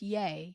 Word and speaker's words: Ye: his drama lately yay yeah yeah is it ye or yay well it's yay he changed his name